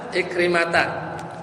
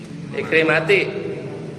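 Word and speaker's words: عكرمة: Ikrimah bacanya apa? Ikrimati. Ikrimata. An ikrimata. Kenapa ikrimata? Hah? Kayak Aisyah apa? Isim alladzi la yansharif, dia enggak bisa ditanwin.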